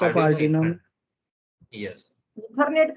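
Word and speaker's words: Ethernet: यस, यू are trying अथरनेट टू नहीं से यस भैया, सर, इसको यस सर। इथरनेट बोला जाता है।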